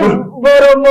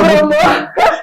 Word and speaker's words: Boromo: On dit Boromo, pas Boromo. Non, c'est accéléré. Tu sais, le Parisien n'a pas ce temps.